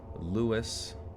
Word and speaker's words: Louis: a i got a wikipedia article telling me right here lewis wait pronounced his own name as lewis on his 1964 record hello dolly he sings this is louis dolly but in 1933 he made a record called laughing louie ah well you know